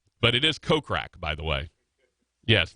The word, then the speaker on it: Kokrak: Jason kokrak I love kokrak by the way it's better than mispronouncing his name is with with us short o as opposed to kokrak see if you say it with the short oh actually the funny thing